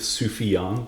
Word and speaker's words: Sufjan: lyrics when he goes when he rhymes vvus with sufian a great move I love I love that he included his name in it too so you know how it's pronounced yes that too cuz